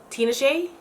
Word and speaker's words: Tinashe: Tinashe.